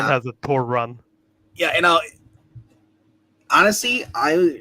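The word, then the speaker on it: Torunn: like you know her first name is actually pronounced Thor run so like torun has a Tor run yeah you know honestly I she's proven to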